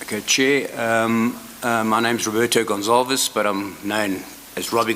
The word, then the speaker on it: Gonçalves: But the way you pronounce the surname is you don't pronounce the V. Gonçalves. No, you pronounce it Gonçalves.